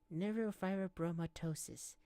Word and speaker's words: neurofibromatosis: I have something called neuroi myosis neurofibromatosis that's how you say it also known as NF